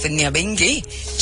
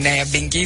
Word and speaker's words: Nyabinghi: You know, we learned last week that the correct pronunciation, or the pronunciation of the name of Nyabinghi, and by the way, we also learned the spelling in the research, because transported here, there's an H that has been placed in, but from the research, my understanding is that there's no H in Nyabinghi.